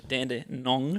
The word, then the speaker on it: Dandenong: No, say it. Danny. Say it. No, Danny runs. Yeah. That's good. Dandenong Stingrays. It's the 3 syllables for me.